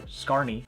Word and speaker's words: Scarne: The effect I'm sharing with you is called Magic in Your Own Hands by John Scarn, or Scarney. I've heard it pronounced both ways.